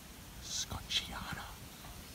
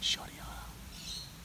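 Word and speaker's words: schottiana: If you know what you're looking at, that is a Flindersia scotchiana, or shottiana. I was always taught to pronounce it shottiana. I prefer shottiana.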